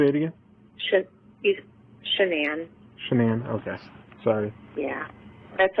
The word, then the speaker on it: Shanann: say it again sh shanan shanan okay sorry yeah that's okay everybody says it wrong say Shannon she was with her